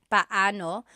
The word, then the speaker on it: paano: just a pronunciation tip it's technically Bano when they're two vocab or when they're two vowels together you say them separately but when speaking quickly Filipinos just Sayo now let's practice using paano